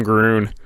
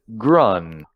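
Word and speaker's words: Grunn: of the set really I really like some Grune oh you are the biggest Timmy oh yeah it looks like it is pronounced grun grun Oh fine you're no fun I mean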